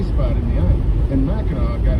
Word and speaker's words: Mackinac: made the name Mackinac, but the French put a C on it. And those that pronounce it Mackinac, everyone looks at them with an eye of suspicion, because no matter how it's spelled, it's Mackinac.